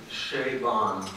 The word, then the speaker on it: Chabon: Michael pronounces his family name Chabon. In his formulation, Che as in the stadium and Bon as in Bon Jovi. Although for some in the room, it may be more useful to remember Bonn, Germany.